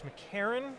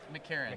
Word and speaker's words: McCarron: all right I think I mispronounced your name at the beginning it's McCarron McCarron McCarron yeah McCarron yeah